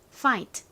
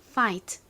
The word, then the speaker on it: fight: 그리고 다음 단어이 단어의 의미는 뭐였죠 싸우다라는 의미였습니다 발음 따라해 보세요 fight fight 그리고 다음이 단어의 의미는 뭘까요 서명하다라는 의미를 가진